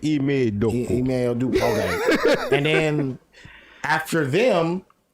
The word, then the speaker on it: Ime Udoka: Ime Udoka. Okay. And then you gotta have the accent when you say Ime Udoka.